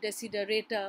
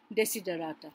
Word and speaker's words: desiderata: You might find some people calling it desiderata or whatever, but if you go into the actual Latin pronunciation, as best as we can, we'll call it desiderata, right?